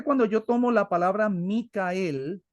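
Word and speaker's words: מיכאל: Miguel que de hecho la verdadera pronunciación el hebreo debiera ser micael para nosotros conocer Quién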